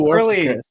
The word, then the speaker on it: Warficus: Okay, And, True it's Warficus.